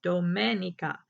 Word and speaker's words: Domenica: woods in a river my name is pronounced in the Italian Way Dominica domenica it's